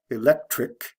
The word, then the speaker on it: electric: When you add the ity, you don't have to change the spelling, but it goes from a hard C, k, electric, to a soft C, s, electricity, like from a K to an S sound.